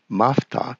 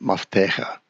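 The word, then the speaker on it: Mafteach: Mafta should actually be pronounced Maftecha.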